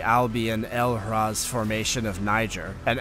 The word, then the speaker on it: Niger: the French found a nearly complete all in Niger just another generic American pronunciation mistake it's Niger not Niger if you're talking about Nigeria then Nigeria you